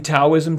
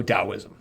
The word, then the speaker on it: Taoism: In Taoism, it's also Taoism. It's a D and T thing in China.